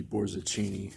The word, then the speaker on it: Borzachini: have the quote from the math professor luigi Borzachini (Pronounced like Zucchini with a K] in the back